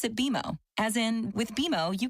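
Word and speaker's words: BMO: when you do I bet you'll call us BM o don't worry it's more common than you think but we actually pronounce it beo as in with bimo you can earn a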